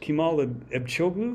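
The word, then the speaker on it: Kemal Ebcioğlu: 1980s um one of your your fellow Turks kimal echu is that how you pronounce it yeah yeah um he worked at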